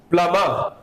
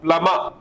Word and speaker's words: plumber: And the word today is plumber. The letter B will be silent here. Plumber.